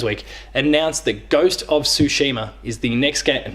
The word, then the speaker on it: Tsushima: as Paris games week announced the ghost of Tsushima is the next game and notice I'm saying